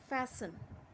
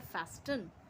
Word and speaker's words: fasten: फैसन. Actually ये है फैस्टन, बट T silent रहता है.